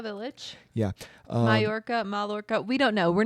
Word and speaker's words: Mallorca: The double L's throw me. They make a Y. Mallorca village. Yeah. Mallorca.